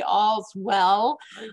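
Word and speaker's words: AllSwell: the virus thing hit we were pronouncing it all swell and after the virus hit I said to Dave I need to change the name of how we pronounce this from now on it's going to be all as well I am speaking into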